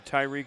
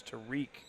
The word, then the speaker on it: Tariq: Foul's going to be charged to Tyreek Dixon. Keep calling him Tyreek. It's Tariq Dixon.